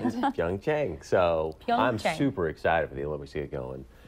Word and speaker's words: Pyeongchang: Pyeongchang.